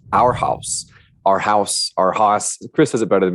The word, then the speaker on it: Arhaus: our house our house our haas chris does it better than me i can never say it correctly it's our house our house our house the ticker